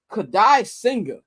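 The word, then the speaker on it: Kodai Senga: And the Mets going to be throwing Kadai Singer. That's how you pronounce his name.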